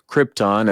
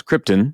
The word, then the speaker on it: Krypton: comes down to jorel who repeatedly mispronounces Krypton as Krypton because Brando couldn't be